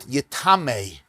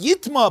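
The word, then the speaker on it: יטמא: Because he says, don't read yitma, read it yitamei. V'chol mashke yishasa b'chol kli yitamei. It's pronounced yitma, but when it's read, it can be read as yitame.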